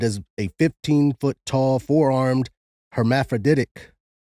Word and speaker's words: hermaphroditic: a 15ot tall forearmed hermaphroditic is that how it was said again that is exactly how you pronounce it hermaphroditic yeah meaning they have